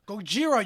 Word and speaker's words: Gojira: All right, and so finally, Japan, for some reason, called that Gojira. Gojira, you idiot. That's how you pronounce it.